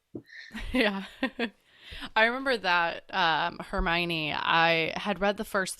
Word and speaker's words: Hermione: totally I don't even know what I was pronouncing her name was but it was so off like it was a herion I don't know what I was saying but